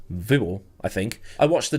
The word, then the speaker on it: Viborg: when I was in Viborg or sorry it's pronounced vior I think I watched